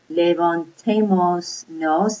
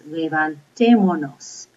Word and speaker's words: levantémonos: It's not levantémonos, it's levantémonos. And you have to practice pronouncing these, okay? Go up on the accent mark, levantémonos, okay?